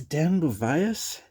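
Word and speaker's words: Den Beauvais: So this is Dan Bovias. That's how you pronounce his name.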